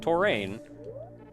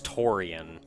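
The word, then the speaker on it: Tourian: But there is an I in there, and if I call it Torain, yeah, it's like I-A-N, so it's Torian. Torian. But I've always pronounced it like it was A-I-N.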